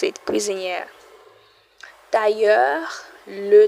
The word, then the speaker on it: tailleur: Tailleur, le tailleur. Remember, IL sounds like a Y.